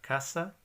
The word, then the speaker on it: casa: or in s then the stress is on the second last syllable so an example of that is the word Casa or cassis which is the